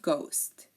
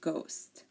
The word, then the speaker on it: ghost: the letter H so if a word begins with GH the H is silent like G girin ghetto and ghost okay so again um